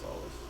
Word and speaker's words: Solis: Solis means sun in Latin, or pronounced solace. His name is pronounced solace.